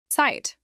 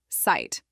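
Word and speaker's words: Zeit: Pronounce it as site. Once again site this means time. Use it inite which means I don't have time. Pronounce it as sight.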